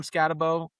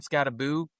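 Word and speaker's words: Skattebo: And I'm not a huge believer in Cam Scatabo and I don't call him Scataboo because his name is spelled Scatabo. I don't know why everyone goes with Scataboo.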